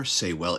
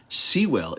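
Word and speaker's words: Seiwell: pronunciation trolls out there saywell is the US pronunciation Sewell is the UK pronunciation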